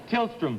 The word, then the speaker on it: Tillstrom: do you say it um just a minute tillstrom tillstrom thank you B tillstrom and Ollie thank